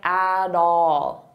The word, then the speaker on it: at all: I can put them together and then I'll pronounce that T as a soft D, and it sounds like at all, at all, at all, at all.